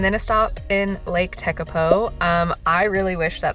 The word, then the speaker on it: Tekapo: So now I know that it's tecapo.